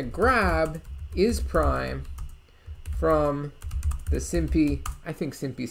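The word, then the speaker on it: SymPy: is a library called simpy i guess you would more properly pronounce it simpai because there's a thing in python about putting the word pi at the end of something so whatever it is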